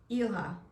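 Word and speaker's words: Ilah: And I said to my phone, "How do you pronounce I L A H?" So it took me to YouTube and it's Ela.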